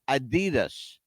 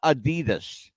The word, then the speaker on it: Adidas: By the way, we're all saying it wrong. It's not Adidas. Hmm. You know how it's actually pronounced? How? Adidas. Are you kidding me? No, I'm not kidding you. Oh my gosh, we've been saying it wrong forever. Everybody says it wrong. It's not Adidas. It's Adidas.